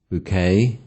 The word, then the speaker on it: bouquet: Foreign nouns ending with a silent ET. For example, ballet, bouquet, buffet, chalet, filet, gourmet, valet, crochet.